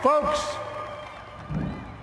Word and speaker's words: folks: Folks, the people of this nation have spoken. أيها الناس, folks, الناس, إل لا تنطق.